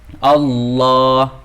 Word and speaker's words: الله: Pada setiap lafaz Allah terdapat huruf mad yang harus dibaca panjang dua. Allah, Allahu Akbar. Nah, di sana di lafaz Allah itu ada harfu mad. Cara membacanya itu dipanjangin dua harokat. Allah, Allah. Nah, dibaca dua harokat.